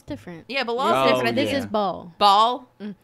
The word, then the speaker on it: Baal: Baal? I found out in Diablo it's pronounced Baal.